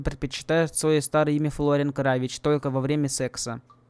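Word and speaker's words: Kravić: Произносится кравич, как в сербском языке. Но Телбонис произносит его как кравик.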